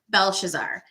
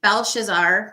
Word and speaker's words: Belshazzar: introduced to that ruler which is his son belshazzar now it's interesting because daniel was given a